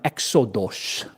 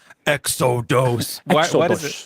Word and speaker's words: Exodus: Cuz our next verse we're going to be looking at is in exodos. What is that? It's a Greek pronunciation of Exodus because Exodus I think is a Greek word.